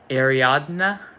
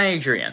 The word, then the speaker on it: Ariadne: I think the way to pronounce her name was like Ariadne. Ariadne. It wasn't Adrien. It's something like that.